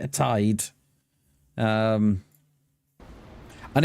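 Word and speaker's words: taid: In Wales, we have Tide. So that's spelled T A I D. Tide.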